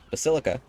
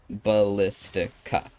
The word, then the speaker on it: Ballistica: I pronounced it terribly as the Basilica, but it is actually Ballistica.